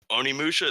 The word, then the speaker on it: Onimusha: Another one being, and I'm gonna butcher this one, Onimusha.